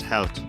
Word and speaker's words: Held: most befitting poker, Justice Held. Justice Held. 6.7 million for Justice. I suspect that's actually pronounced Justice Helt, because if his name is German, Helt is the German for hero.